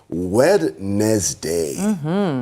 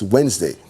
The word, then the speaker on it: Wednesday: He said, Wednesday. And it's for us to remember the words, the letters in the word Wednesday. But it's not pronounced like that, children who are watching. No, it's Wednesday.